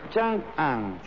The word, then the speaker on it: Chang'an: Las dos capitales imperiales del Imperio Han, Chang'an y Luoyang, lo pronuncié mal, ¿eh? Es Chang'an y Luoyang.